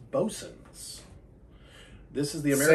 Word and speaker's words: Boatswain: He said, this is not Boatswain, which after he said it, I went, oh my gosh, yeah, it's Bosun's.